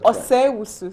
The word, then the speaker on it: Owusu: I thought the O is silent. So you say Say Wusu. Osei Wusu. Oh, for the O. Oh, Osei Wusu.